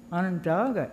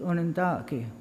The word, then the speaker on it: Onondaga: people, the Onondaga people, which, by the way, isn't even Onondaga. It was kind of anglicized by people that came around. The actual pronunciation is Onondaga. That's the way that we pronounce what we call ourselves.